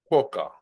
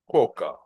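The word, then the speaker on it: quokka: Quoka. Quoka. Now, this is the right way to pronounce a cute Australian animals name as you can see uh in the photo.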